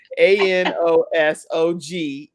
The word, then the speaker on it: anosognosia: You're supposed to say baloney versus, but it's spelled Bologna. I don't know what I'm saying over here. ANOSOGNOSIA.